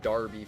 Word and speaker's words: derby: wasn't it a derby now i know the english really love to pronounce that word really weird they like to call it darby for some reason which doesn't make any